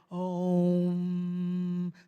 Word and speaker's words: Om: And there's something that sounds a little bit like you're saying oh or ah, depending on how you pronounce it, right? When you first say om, the first sound is that oh.